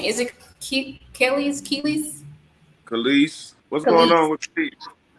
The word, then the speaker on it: Kelis: How do you pronounce this lady name? Is it Kelis? Kelis.